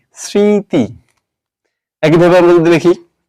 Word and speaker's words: স্মৃতি: ম টা কোথায় গেল শব্দের তো ম উচ্চারিত হয় না তবেই তবে এটা যেহেতু নাসিক্য বর্ণ এজন্য এখানে চন্দ্রবিন্দু দিয়ে বোঝাতে হবে যে এই উচ্চারণে নাক দিয়ে উচ্চারণ করতে হবে এই উচ্চারণে আমাদের নাক দিয়ে বাতাস বের করতে হবে সুতরাং স্মৃতি এর উচ্চারণ লিখতে হবে এভাবে সের র ফালা চন্দ্রবিন্দু ইকার ত ইকারে তি স্মৃতি একই ভাবে আমরা যদি